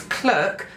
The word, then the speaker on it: clerk: When the little blue clerk, and it's clerk to rhyme with work. If you end up doing when the little blue clerk in the middle of his work, doesn't quite work.